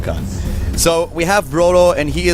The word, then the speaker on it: Khan: I was saying the can. I really miss cannies in Germany right now, but... yeah, but this is Samsung Khan.